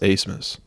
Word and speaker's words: Asmus: Asmus. It's like Asbas. Interesting. Or no, it's Abmas. But it's pronounced Asmus.